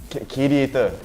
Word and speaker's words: QADIATOR: QADIATOR. It's like radiator, but change the ray into a Q.